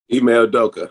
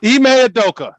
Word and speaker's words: Ime Udoka: Shaq, did I pronounce that correctly, sir? Ime Udoka, yeah. Ime Udoka, thank you, because that's a Nigerian name, and we love and respect that.